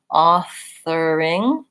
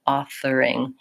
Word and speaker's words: authoring: for here is that with the letters O R we often think we have to do around it o authoring and really in this word authoring most Americans will do more of an ass on author authoring so you don't really need any o sound just the are